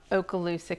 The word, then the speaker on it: Okaloosa: Let's talk about Okaloosa County.